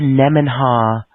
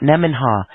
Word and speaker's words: Nemenha: Nemen, Nemen, like N-E, men. Yeah, Nemen, right. Ha, H-A. It's all one word.